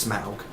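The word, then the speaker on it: Smaug: bit more smug now his name's actually pronounced smug of course if you read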